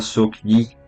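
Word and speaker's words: Sook-hee: El primer personaje es Sook Hi. Se pronuncia su Yi, es la criada.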